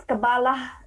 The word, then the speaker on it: Kabbalah: Simply, it's Kabbalah. I mean, Kabbalah means definitely the Jewish mysticism, and who practice this Jewish mysticism or who studies this mysticism are Kabbalah people.